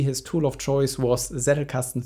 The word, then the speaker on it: Zettelkasten: course a slipbox or Zettelkasten a la Niklas Luhmann, or Zettelkasten as it is pronounced in German.